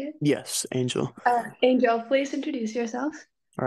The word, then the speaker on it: Angel: Yes, Angel.